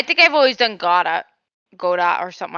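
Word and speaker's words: Godot: learn this myself but his name is pronounced godo not God do I'm not you cannot make me not pronounce that t I know like I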